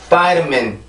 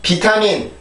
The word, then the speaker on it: vitamin: 절대 비타민, 비타민 이 스펠링만 읽어서 비타민이 아니고요. 발음교를 정확히 보면 Vitamin, Vitamin, Vitamin 이렇게 해서 발음을 해줄 수가 있습니다.